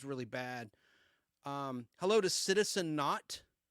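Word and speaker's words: Naught: Hello to Citizen Not. Not is spelled N-A-U-G-H-T, like an Argonaut or an astronaut.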